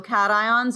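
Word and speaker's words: cations: no it's cat because cats have paws so cat ions are positive what else do you know about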